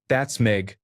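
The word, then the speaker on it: Baszd meg: Bastmeg, pronounced that'smeg means you in Hungarian.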